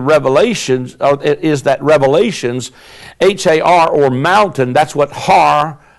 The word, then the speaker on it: Har: In Hebrew, it is actually Har, H-A-R-M-A-G-E-D-O-N, as Har, H-A-R, means mountain in Hebrew. So it's the mountain of Megiddo is a Greek rendering, since H is silent in the Hebrew.